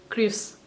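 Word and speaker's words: kryds: अगर इंटरसेक्शन है तो इथ क्रिस इथ क्रिस यहां पे आपको डी को प्रोनाउंस नहीं करना है यह साइलेंट है और अगर एक ट्रैफिक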